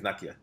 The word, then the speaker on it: Nakia: And apparently his ex-girlfriend Nakia, I don't know how you say it, but I think it's Nakia.